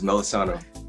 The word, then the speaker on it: Melisano: My guest this evening is the awesome Melisano. Is that right? If I pronounced it right? That is Melisano.